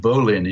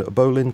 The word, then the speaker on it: Bolin: I think Bolin is how he pronounces it.